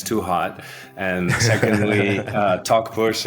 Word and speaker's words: Talkpush: And secondly, Talkpush is just the way you pronounce it, talking and pushing.